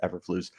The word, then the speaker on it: Eberflus: And when Matt Eberflus, or however you pronounce his last name, I believe it's Eberflus, the current head coach for the Bears came in, he did not opt to keep Herman around.